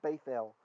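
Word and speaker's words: בית אל: But the correct pronunciation, I believe the Yemenites do it this way, correct me if I'm wrong, Isa, is th, to make it a th, a th sound, which is closer to the ancient pronunciation. It's a name, it's Bethel, right? Which is why it comes into English as Bethel.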